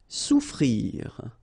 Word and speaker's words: souffrir: Souffrir. Okay, so double F is not pronounced.